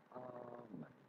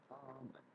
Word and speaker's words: almond: In English, the L here is silent. So you do want to say, much like in salmon, you want to say, almond, almond, almond.